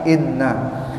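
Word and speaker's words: إنّ: Jadi bacanya bukan wa anna tapi dengan baca kasroh hamzahnya. Bikasrati hamzati anna. Jadi bukan dibaca anna tapi inna.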